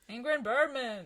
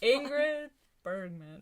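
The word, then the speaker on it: Ingrid Bergman: great movie check that one out as well ingram bourbon yeah oh my god i said it wrong just like last year man birdman so much butchering why can't i talk ingrid birdman yes and we did drop a hint about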